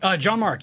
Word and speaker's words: Gianmarco: Did I pronounce that correctly? Gianmarco.